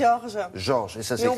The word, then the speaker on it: Jorge: Moi j'ai dit Jorge, c'est pas bien. Non, c'est pas bien. Ça fait espagnol. C'est Georges.